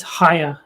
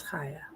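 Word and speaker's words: Chaya: No, I think it I saw I forget who, someone interviewed her, and she said it's Haya is how you pronounce.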